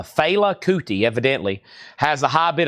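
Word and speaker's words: Fela Kuti: Now, Fela, or somebody's saying it's pronounced failout, not Filela. Failouti.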